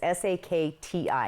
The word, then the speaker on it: Sakti: It's s a k ti. Sak ti.